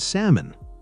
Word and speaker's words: salmon: The important thing is noticing patterns like silent L in almond and salmon.